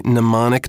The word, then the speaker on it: mnemonic: good example of a mnemonic device by the way mnemonic is probably the only word in english that begins with a silent m also i hope you'll